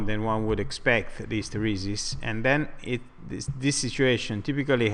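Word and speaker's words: isteresi: in Italian is Hysteresi. Hysteresi, ok? Dico meglio, l'accento è così, Hysteresi.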